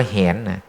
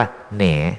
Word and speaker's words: แหน: อยู่ อ่าน ว่า อะไร อย่า ไป อ่าน ว่า เห็น อ่าน ว่า แหน ตรง นั้น เหมือน กัน